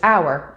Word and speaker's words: hour: rhinoceros what and choir it is also often silent at the beginning of words such as hour or honest k k is always